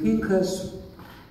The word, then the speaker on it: Pinchas: This week's Torah portion is pronounced in Hebrew Pinas in English vineas.